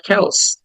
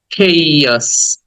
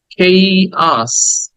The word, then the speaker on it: chaos: And 43, এটাকে আমরা chaos বলে অভ্যস্ত, but it's not chaos, it's chaos, chaos।